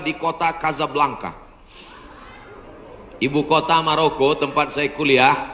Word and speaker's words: Casablanca: Hasan 2 di Kota Kasablanka ibukota Maroko tempat saya kuliah nama negaranya Maroko ibukotanya tulisannya Casablanca cara bacanya Kasablanka Kaza artinya rumah blanka